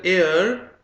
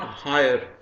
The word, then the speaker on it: heir: This word is pronounced as heir and not higher.